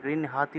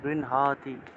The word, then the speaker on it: গৃহ্ণাতি: যথা বিহায় নবানি গৃহ্ণাতি, এটা গৃহ্ণাতি উচ্চারণ হবে। হয়ের সাথে ন আছে, গৃহ্ণাতি।